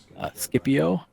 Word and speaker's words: Scipio: battle group in the skippy Oh or Scipio I think Skippy Oh is the right pronunciation but it's the battle